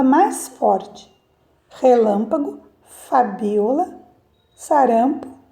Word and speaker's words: relâmpago: Relâmpago então neste caso nesta palavra a sílaba mais forte é a sílaba Lan tá então relampagou Lan